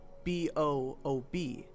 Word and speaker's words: BOOB: This strategy was dubbed Boxes Out of Bounds, which was later shortened to BOOB. It's called BOOB, and it's pronounced exactly like that. Boob.